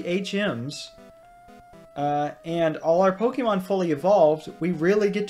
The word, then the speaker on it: Pokémon: been putting it off my pronunciation of Pokemon I always say Pokemon always have and probably always will the accurate pronunciation would be Pokemon because of the accent and how Japanese works in Pocket Monsters poke so I